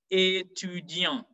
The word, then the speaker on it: étudiant: Now, the rule in French is that the end consonants are not articulated. So when you're pronouncing a word that has T at the end, then the T will be silencieux. For example, we have the word student. We say étudiant, étudiant.